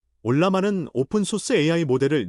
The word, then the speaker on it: Ollama: 알러머 올라마라고 읽습니다. 올라마는 오픈소스 AI 모델을 내 컴퓨터에 설치하고 실행하는 도구입니다.